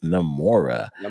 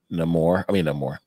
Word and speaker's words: Namor: I think Namora is a great card, a great team up with Namor. With Namor. Namor. Yeah, Namor. Accents on the wrong syllable. Exactly. The wrong chicka over the R.